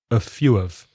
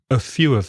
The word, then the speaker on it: a few of: quantifier a few of remember that of becomes weak and the a becomes uh so that's weak so the pronunciation is a few of a few of them that would be like